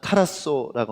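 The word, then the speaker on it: ταράσσω: 여기에 헬라어로 근심이라는 단어는 타라소라고 합니다. 타라소 이렇게 발음하겠죠. 악센트가 아예 있으니까.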